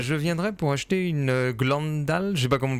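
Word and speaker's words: Glendale: Euh je viendrai pour acheter une Glandale. Je sais pas comment on prononce. Glandale. C'est bien ça. Glendal.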